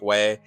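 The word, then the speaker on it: Huế: I think I pronounced it Hue before, but it's Hue.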